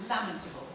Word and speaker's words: lamentable: I think you'll find it's pronounced lamentable.